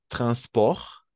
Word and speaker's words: transport: Hasta la R nomás, porque la T no se pronuncia. Y aquí la R, sí, la R francesa.